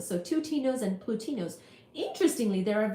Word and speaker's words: twotinos: name of Tas tuas t t wo t i n o s rhymes with plutinos so twoos and plutinos interestingly there